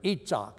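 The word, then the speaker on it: יצחק: a guy named Isaac, or Itzhak, as they would pronounce it in Israel, which back in that day was the sound of laughter.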